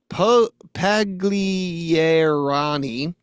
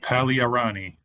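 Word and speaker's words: Pagliarani: Um, but father Davided Puglier Paglierani. Father Davidid Palearani. Palearani. Oh, so they don't pronounce the G.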